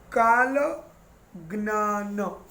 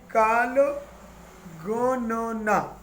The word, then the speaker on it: Kala Ganana: Then Shak Muni, he wrote Kala Gnana. Actually Kala Ganana. Sorry, I pronounced wrongly. Kala Ganana is written in the book in Indian words. We speak as Kala Ganana.